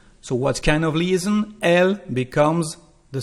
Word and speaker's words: elle: So you can hear the sound L at the end, elle mange. And of course we are going to have a liaison. So what kind of liaison? Elle becomes the sound E,